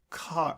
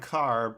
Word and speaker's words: Kerr: k r r right pronounced like car like car like the star well I I was